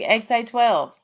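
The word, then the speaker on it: X Æ A-12: Okay, so Musk said his son's name is pronounced X-A12. The X is just X, and the A12 is just A12.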